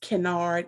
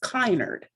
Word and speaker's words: Kinard: the last name is canard and that's spelled k-i-n-a-r-d in some places in the country it's pronounced kynard but um the past two generations we've been pronouncing it canard that's in south carolina